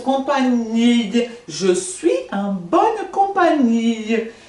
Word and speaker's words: compagnie: Je suis en bonne companhia. Não falo compagnie? Ah, não falo. Não falo, nem você fala também não, tá, gente? Vamos ficar combinado aqui. que GN tem som de NH.